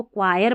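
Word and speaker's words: choir: क्वायर इसमें भी देखें जैसा पढ़ा जा रहा है वैसी स्पेलिंग ही नहीं बन रही। ऐसे तो इसको क्वायर पढ़ना है।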